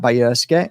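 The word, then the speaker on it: Bajrski: my name is Bayers um b a j r s k i the J is pronounced Why by see my dad's happy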